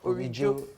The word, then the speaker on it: Orijo: Orijo. Yeah. All right. Like original, something real.